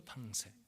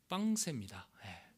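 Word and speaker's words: Pensées: 그 명상록 중에 빵세라는 팡세죠, 팡세. 빵세입니다. 원래 발음.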